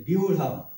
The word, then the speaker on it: ব্যূঢ়াম: আর এখানে হতাই যে বিউঢ়াম, এই জফলা সমান সমান কি হবে, ই এবং অ মিলে জফলা, তাহলে বিউঢ়াম, বিউঢ়াম, ক্লিয়ার।